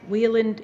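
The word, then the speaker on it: Wieland: And for those of you that might want to put it in Google Maps, Wheeland is spelled W-I-E-L-A-N-D.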